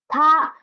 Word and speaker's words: 她: Next one, the pronunciation is the same, it is still ta, ta, but the character is a little bit different.